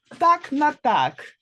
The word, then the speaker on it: так на так: Можна сказати так на так. Так на так. Мгм. Okay, tak na tak.